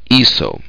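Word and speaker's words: hizo: Because the stem is is, H-I-C, we need to remember that C changes pronunciation when it's followed by an O. So we'd have to change the C to a Z to preserve the pronunciation. So we have iso.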